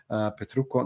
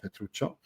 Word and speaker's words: Petrucco: Petrucco, not Petruccio.